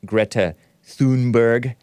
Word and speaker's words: Greta Thunberg: That's the Swedish rough pronunciation of Greta Thunberg.